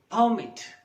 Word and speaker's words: permit: In the same way, the words permit. When the stress is on the first syllable, it's noun.